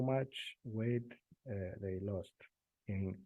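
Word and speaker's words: μ: in in in English this is in Greek letter so I know how to pronounce it and it's not m new but uh I think in in English you call it mu so mu it's um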